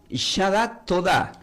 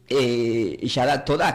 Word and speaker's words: Yadah Todà: ¿Y qué significa esta palabra Yadat Todá, que se escribe Y-A, la D, la A, la H, la T, la O, la D y con acento en la A?